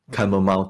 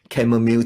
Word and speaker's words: chamomile: For me, my favorite nightcap is a small cup of warm chamomile tea, or some people pronounce it as chamomile tea.